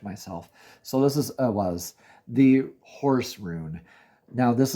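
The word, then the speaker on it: Ehwaz: I mispronounce and interchange them a bit, and I will always correct myself. So this is Ewas, the horse rune.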